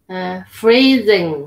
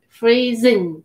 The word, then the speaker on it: freezing: Got to pronounce the Z there. Okay. Below 0. And freezing. Freezing. Freezing. Freezing. Not thing. You don't say Z with your like the. Freezing.